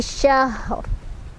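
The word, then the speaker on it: شهر: Syahr, ro-nya dibaca secara tebal ya, karena kita berhenti di sini. Jadi ro-nya kalau wasol bacanya tipis, barisnya di bawah. Tapi karena kita berhenti, berarti kan ro-nya disukunkan jadi sukun. Kita harus lihat huruf sebelumnya kayak tadi. Huruf sebelumnya sukun, berarti lihat huruf yang sebelum sukunnya. Shinnya fathah kan? Berarti ro-nya dibaca tebal.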